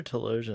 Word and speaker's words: Telosians: Philosians or Telosians? I did Philosians or Telosians. It's Telosians, yeah.